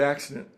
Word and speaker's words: accident: But anyway, the word accident. It's one of those words that has two C's in a row, which is always pronounced as an X. Vaccination, accident, occidental, flaccid.